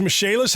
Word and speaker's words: Michaelis: Besides being great general contractors, Misc has experts in waterproofing, foundation repair, mold remediation, indoor air quality, emergency fire and flood restoration, and insurance restoration. Spelled Michaelis, pronounced Misc.